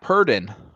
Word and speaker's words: Purdon: And then Purdon, which, by the way, that's how it's pronounced.